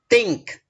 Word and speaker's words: think: Nah, T and H, huruf T dan H, ini tanda bacanya seperti ini, pelafalan seperti ini. The end of your tongue, ujung lidah. Nah, touch your teeth. Nah, menyentuh gigi. Nah, bahkan cenderung digigit.